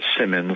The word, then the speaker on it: Symonds: that um and then my last name is pronounced simmons like the exercise guide spell relation spelled differently